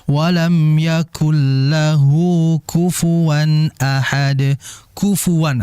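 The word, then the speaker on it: كُفُوًا: Kufuwan, hati-hati ketika baca kufuwan, dia jelaskan kaf, fa dan wanya. Kufuwan, karena memang di dalam riwayat lain, jadi kita itu dalam ilmu qiraat ada namanya qiraatul asyr ya, yaitu cara membaca 10 qiraat, yaitu ada 20 riwayat, itu bisa dibaca kuf'an. Walam yakul lahu kuf'an ahad. Juga bisa walam yakul lahu kufuwan ahad.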